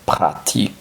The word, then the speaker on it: pratique: se pronunciaría logic logic práctico sería sin la c sería pratic pratic Entonces cómo se